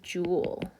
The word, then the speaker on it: joule: work um is the jewel the jewel foreign and we use a capital J to symbolize that so um you pronounce it Jewel like a like a jewel jewelry or something and it's a